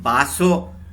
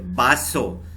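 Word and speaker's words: vaso: तो वी ए एस ओ को हम बासो प्रोनाउंस करेंगे, ठीक है। बासो, बासो यानी कि ग्लास, ठीक है, पानी पीने वाली ग्लास।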